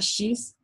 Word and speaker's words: X: Em português, a letra X é pronunciada assim, né? X. Raios X.